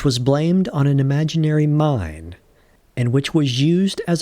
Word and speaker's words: Main: While not to digress too much, the mine river in Germany, although spelled like the English man, is actually pronounced mine.